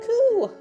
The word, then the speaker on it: く: Ku is pronounced like coo.